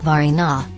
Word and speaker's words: Varina: Frazier, a native North Carolinian, employs both but begins his story with 2 from history, Varina, pronounced Varina, and a mixed-race man,